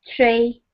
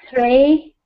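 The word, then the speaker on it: three: 3, tree, tree. Much better. Well done. All right, so you've got to push a lot more air out when you say 3, right?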